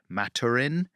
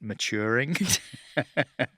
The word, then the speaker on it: Maturin: Like what the protagonist is called Matarin, but I I kept on pronouncing it maturing.